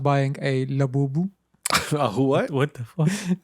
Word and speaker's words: Labubu: It's labubu. I Like, it's spelled like it sounds. La bubu.